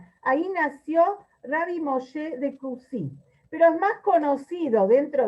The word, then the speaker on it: Coucy: Se llama Rabbi Moshe de Kusi. Se escribe C-O-U-C-Y, Coucy. Es una pequeña ciudad o un pueblo en Francia, en el sur de Francia. Ahí nació Rabbi Moshe de Kusi.